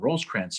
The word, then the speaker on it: Rosecrans: match between with william rose trance and us grant where it is allegedly somebody we don't know who it was but it probably rhymes with foes crayons okay goes to a